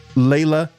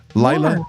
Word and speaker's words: Laila: I need you to, if you could, please subscribe to Layla Ali. Did I just say Layla? Lila Ali. I just said it wrong, Crystal.